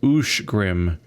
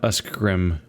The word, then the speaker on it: Uskgrim: Uskgrim is Ushgrim and not Uskgrim.